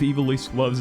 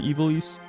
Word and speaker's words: Ivalice: Fantasy Tactics is the world of Eve loves its astrology. I don't know why. Um, but you know, um, Final Fantasy 12 also takes place in Ealiss and see now I'm saying it. I'm trying to correct myself.